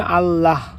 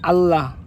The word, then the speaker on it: আল্লাহ: যে আমাদের শব্দটা হচ্ছে আল্লাহ শেষে হ দিয়ে উচ্চারণ করতে হয় কিন্তু আমরা মাঝে মাঝে এখানে হ টা বাদ দিয়ে আল্লাহ এভাবে উচ্চারণ করি কাজেই